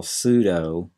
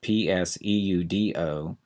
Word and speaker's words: pseudo: reasons first of all pseudo is a tricky word to spell that p is silent PS e u d o pseudo and then we